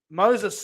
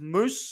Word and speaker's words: Moses: In the centers, I've got Moses Sully, but it's pronounced Moose Sully.